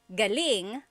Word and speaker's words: galing: means good or great so if the emphasis is on the second syllable galing that means good or great or excellent yes as air Kevin